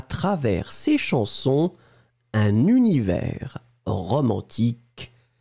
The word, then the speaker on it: travers: Ensuite, travers, souvenez-vous, S final qui n'est pas prononcé, T-R-A-V-E-R-S.